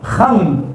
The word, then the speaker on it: Ham: como cão né aliás uma pronúncia em hebraico não temos ão temos am então ham é o nome dele mas é difícil para